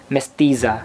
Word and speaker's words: Mestiza: Available itong Mestiza, ganun kasi is pronunciation niya, Mestiza.